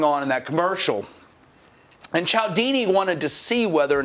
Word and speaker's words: Cialdini: That's how you pronounce this guy's name, Cialdini. It doesn't look at all like Cialdini, though. I think he just made up a pronunciation. Like there's not even an L in there.